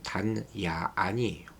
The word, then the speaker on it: 단야안: 다나얀이라는 것은 정확한 발음으로 단야안이에요.